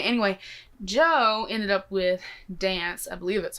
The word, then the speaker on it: DNCE: And I hope that whoever I marry does not hate me for that, but I want to dance to that song.